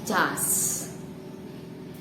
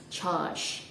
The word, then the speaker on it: charge: So instead of saying that, we say jas. Well, it's okay. I mean, we know what that means, so it's not a big deal actually. But I am going to tell you how to pronounce it correctly anyway, and it is pronounced charge.